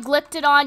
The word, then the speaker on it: Glyptodon: a way okay yeah so you say it like glypted on you have the glyptodon triceratops and the stegosaurus